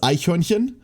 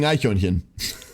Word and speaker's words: Eichhörnchen: word for squirrel is Eichhörnchen? Like, good luck. If you've never pronounced a ch in your life before, you're not pronouncing that shit.